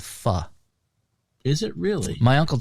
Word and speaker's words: pho: I said, "Fo." He's like, "Yeah, that's what I thought, too." But it's called actually fa. F is in fan. And the o is pronounced like uh in butter. So fu.